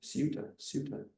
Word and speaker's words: Ceuta: the city of Ceuta, I guess in Spanish we pronounce it, Ceuta.